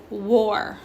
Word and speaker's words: war: pronounced our right but in this case it's pronounced o are woe or not what are war and last but not least we have signature